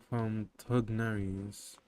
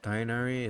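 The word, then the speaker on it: Tighnari: That's from Tugnaries. I learned earlier that Tainari is not actually Tainari. If you read it in Arabic, it's Tugnari.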